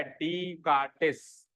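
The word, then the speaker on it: Descartes: पड़ोस का नाम क्या डी कार्टिस इसमें एस साइलेंट है डी कार्टिस इनके नाम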